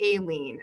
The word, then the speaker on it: Eileen: And that's something I struggle with because, as you know, my name, it looks like it's Eileen, but it's actually Aileen.